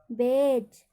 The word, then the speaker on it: batch: Example, BATCH। अब यहाँ पे देखिए स्पेलिंग में टी के बाद क्या आ रहा है, तुरंत CH आ रहा है। तो यहाँ पर टी का उच्चारण नहीं होगा। क्या पढ़ेंगे, बेज।